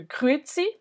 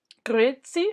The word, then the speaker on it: Grüezi: Ensuite, dans certaines régions, plus en Suisse par exemple, tu vas entendre le Grüezi, Grüezi, avec le R un peu qui roule.